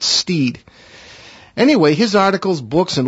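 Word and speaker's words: Stead: It's spelled S-T-E-A-D, but I believe he pronounced it Steed.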